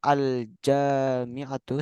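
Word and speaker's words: الجامعة: Tapi kalau al-jami'atu seperti ini tulisannya. bacanya panjang.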